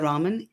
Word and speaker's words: Raman: And again, for folks who are on audio only, is, and your last name is not like the noodles. It's Raman, right? Correct. It's pronounced as the noodles, but spelt differently.